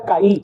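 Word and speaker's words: καί: unes Pedro y Juan, en griego es caí, es como se pronuncia caí.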